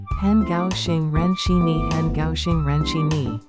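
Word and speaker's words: 很高兴认识你: Han is third tone, gao xing is first and fourth tone, ren shi is fourth tone, and ni is third tone.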